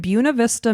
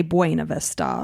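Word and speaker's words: Buena Vista: was a 32-year-old woman woman who lived in Buuna Vista, Michigan. So I had to train myself how to say this town because here in Florida we say Bua Vista.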